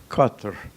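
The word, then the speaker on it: Qatar: the pronunciation of the word it is cutler like a coast Hustler so you need never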